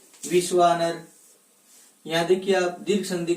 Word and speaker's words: विश्वानर: और जब इसका उच्चारण करते हैं तो दीर्घ के रूप में होता है विश्वानर, ऐसा होता है।